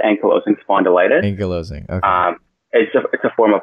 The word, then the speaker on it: ankylosing spondylitis: sorry we didn't get to this these were Anki ank you're losing spondylitis patients I pronounced that right yeah it's actually pronounced yeah that's okay it's actually pronounced ankylosing spondylitis you're losing a form of arthritis and it's